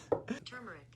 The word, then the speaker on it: turmeric: But here we're not totally an idiot because like the people also ask, is the R in turmeric silent? The word is spelled turmeric.